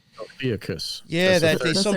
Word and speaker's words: Ophiuchus: Ophisk? I don't know how to say it right. Ophiuchus.